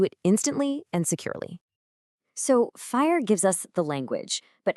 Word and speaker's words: FHIR: So fire, and it's pronounced fire, is basically a universal translator for health data.